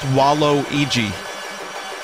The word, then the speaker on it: Waluigi: Now we know it's pronounced Waluigi. That's confirmed.